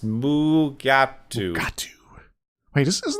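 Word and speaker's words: Mugato: that's the white horned fur like gorilla creature pronounced mu gap due to this is not the bad guy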